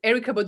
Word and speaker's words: Erykah Badu: So I'm Erykah Badu. Is that how you pronounce her name?